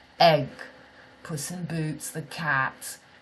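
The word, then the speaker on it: Aig: My village is called Enyon, and it's spelt A-I-G. A-I-G is pronounced in English egg.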